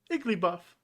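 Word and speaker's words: Igglybuff: ah the pink babies pokemon name that rhymes with cuff is iggly buff iggly buff is a baby pokemon that is pink and buff rhymes with cuffs eagerly buff and rhymes with cuff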